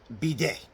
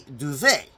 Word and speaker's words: bidet: occasionally but it's because I made a mistake the last time is that I called a bday a duve now that was a